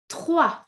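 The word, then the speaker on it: trois: Number 3, next on the list is 3. 3. Ça va? 3. Again, what do we notice? We do not pronounce the S. Okay, S non-existent. So we say 1, 2, 3.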